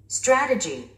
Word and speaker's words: strategy: Strategy, strategy. 우리 한국인들은 이 단어를 strategy라고 발음합니다.